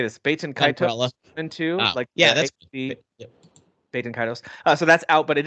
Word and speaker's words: Baten Kaitos: Baten Kaitos into that's Baten Kaitos.